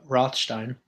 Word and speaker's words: Rothstein: anyone in the chat no I see actually rothstein listening that is how you pronounce my last name all the time they